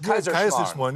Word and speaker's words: Kaiserschmarrn: I didn't know how to pronounce it. Kaiserschmarrn.